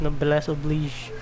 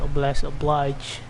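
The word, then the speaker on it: noblesse oblige: try to stop obama who thought we got no bless oblige by the way it's pronounced as no bless oblige not a blessed oblige it's filled i think it's french correct me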